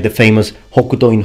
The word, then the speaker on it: Hokuto: There are many possible meanings, like the famous Hokuto in Hokuto no Ken. But in this case, I can only tell you the pronunciation.